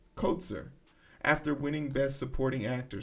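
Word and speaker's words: Troy Kotsur: deaf actor troy torsor how do you say his name said his name coat sir kotzer after winning best supporting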